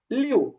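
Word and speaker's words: 六: হ্যাঁ, ছয়টা হবে ছয়ের উচ্চারণ হবে লিউ, লিউ।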